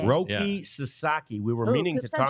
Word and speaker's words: Roki Sasaki: Shady Rays so we did not get to Roki saki is that that's how you that's how you say it Roki Sasaki we were meaning to talk about him in